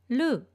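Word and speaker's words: る: Please don't roll your tongue too much when you pronounce ru.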